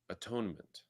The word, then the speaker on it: atonement: But the pronunciation of it can be emphasized differently in order to arrive at a different realization. And in this case, it was at one-ment.